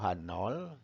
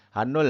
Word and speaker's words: H0: h0 ya atau atau hanol hanul bukan h-o-h nol karena ini sama dengan